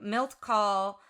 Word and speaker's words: Milt Kahl: Milt Kahl. Thank you. Milt Kahl.